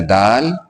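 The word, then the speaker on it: دِ: यह है उर्दू लेटर दाल। दाल के नीचे ज़ेर की मात्रा है। ज़ेर के आ जाने से अब इसी दाल का उच्चारण इ के रूप में होगा। यानी अब इसे दी पढ़ेंगे।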